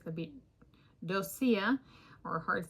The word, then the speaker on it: doccia: C, it's gonna be Doccia, or a hard C, Doccia or Doccia. And then if it's pronounced like breccia, which is a type of rock in geology, it'd be like Doccia, breccia, Doccia.